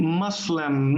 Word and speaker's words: Muslim: those notes okay so the pronunciation for the religion religious group would be muslim muslim or muslims in plural muslim muslims okay and